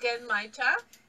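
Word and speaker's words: genmaicha: what tea are we trying now it's actually pronounced genmaita that was so close again in my chat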